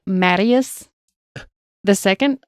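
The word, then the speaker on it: Matthias: t h i a when I looked it up they didn't say th they said t Elizabeth was said to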